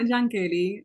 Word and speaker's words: Yankelly: Well, I'm Yankelly. I feel like I need to pronounce my name because I it's with a Y, but it's Spanish because I'm Dominican, come from the Dominican Republic.